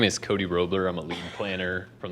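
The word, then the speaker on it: Roblyer: my name is Cody roebler I'm a leading planner from the Genesee County Planning Commission Cody Cody roebler r-o-b-l-y-e-r silent b l y I like to make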